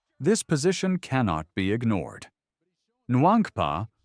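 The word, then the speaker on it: Nwankpa: Nankpa, pronounced Wonka, fits the Bears mold for a physical runup supporting box safety.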